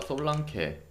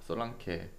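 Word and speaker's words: Solanke: 자, 이 경기 일단은 본머스가 솔랑케 영어 발음이니까 솔랑케, 그리고 뭐 루이스쿡, 타베르니에 결장.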